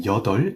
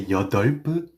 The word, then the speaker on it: 여덟: mind when you're using yeodeol in native Korean numbers is that the b here is silent. So, do not say yeodeolp or yeodeolp. Say yeodeol as if the b is not there at all.